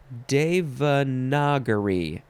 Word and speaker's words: Devanagari: Devanagari. Noun from 1781. And actually, it's the N-A part that's throwing me off. So let me check this little pronunciation guide. Devanagari. That's it.